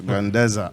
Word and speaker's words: Grandeza: Grandeza. Grandeza. Grandeza. Just, you know, the Spanish Grandeza.